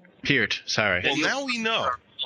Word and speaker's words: Peart: people in comas okay here's not hurt you got to pronounce with the long e sound peered sorry yeah we know